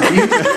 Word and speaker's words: Butte: Butte, Montana is actually like Butt with an E, but it's pronounced Butte.